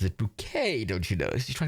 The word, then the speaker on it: Bucket: that's the joke um her name is hyacinth bucket it's spelled bucket but she's pronounces it bouquet don't you know she's trying to be fancy